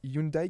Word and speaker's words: Hyundai: que caterpillary il y avait une présentation de Hyundai alors je crois que ça se prononce comme ça j'ai toujours du mal avec avec cette marque mais c'est bien ça Hyundai qui avait leur voilà très bien merci beaucoup